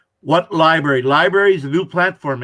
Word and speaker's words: LBRY: if you just google l b r y library is how it's pronounced but it's all caps lbry just google that